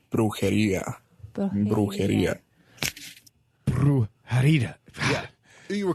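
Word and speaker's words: brujería: How you pronounce the word? It's brujeria.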